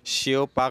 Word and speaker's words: 小北: 不太像，其实这样念小巴啊。小巴有别于品牌音译，小北百货选择台语发音。